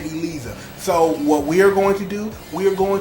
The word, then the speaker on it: Eliza: C to look at some producer told some voice actress to pronounce This Woman's name Elisa so what we are